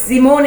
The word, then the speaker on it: Simone: So it's Simone in German, but people can't pronounce it, so I just say Simone because I don't like it pronounced, the other ways. Simone in Germany. So, yeah, Simone. Cool. S is like Z.